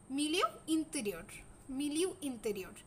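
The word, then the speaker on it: milieu intérieur: physiologist ছিলেন তিনি একটা টার্ম দিছিলেন এই টার্মটার উচ্চারণটা একটু শুনে নাও মিলিউ ইন্টেরিয়র এই মিলিউ ইন্টেরিয়র টার্মটা আমাদের কিন্তু মাঝে মাঝে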